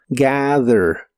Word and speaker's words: gather: de inglés es gather la th se pronuncia como una d vibrante y la a se pronuncia con la combinación de los sonidos e a gather gather en el presente lo